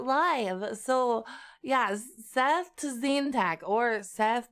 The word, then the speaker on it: Tzeentach: so yes Seth to Zantac or Seth zintak I want to treat the TZ like a TS like in Sal or something but I don't know